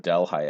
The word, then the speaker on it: Delhi: of the founders of delhi ebenezer foote decided to name it del that's the local pronunciation delhi to make fun of one